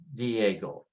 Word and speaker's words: Diego: And you know Diego, like San Diego. And just put the stress on the strong vowel, Diego.